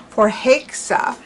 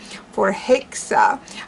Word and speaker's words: Förhäxa: up just to see how it would be pronounced in swedish and the one site that i found has it more as for heixa for hexa instead of ha a more of a hay